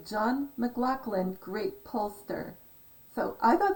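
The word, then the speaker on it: McLachlan: anyway john mclaughlin and when you say it like that it's m a c which is scottish not m c l capital l a c h l a n and um you said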